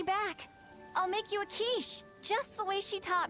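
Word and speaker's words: quiche: I'll make you a kiche just the way she taught me. I used to pronounce it quish because I had no idea what the quish was.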